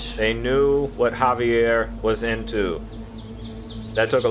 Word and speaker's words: Javier: Yeah, they knew that what Xavier was into. No, wait, I said it with like an X. Javier. Javier. There we go. That sounds about right. They knew what Javier was into.